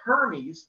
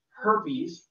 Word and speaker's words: Hermes: guys pronounce creepy again hephaestus not hepatitis the the god of diseases just like the next one over there is hermes not herpes the other god diseases and